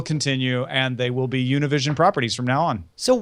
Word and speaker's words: Univision: Univision, which I am told it's like I should just call Univision and not get put a Spanish pronunciation on it, doesn't just run the top Spanish language channel in the United States.